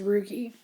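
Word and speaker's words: rugae: funny word but that's what that's how you pronounce it is rookie um almost all of the GI tract is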